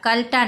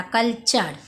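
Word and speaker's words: culture: ও এল কাল টি ওয়ার ই চার কালচার কালার না কালচার এফ পি টি আর চার ফিচার সি আর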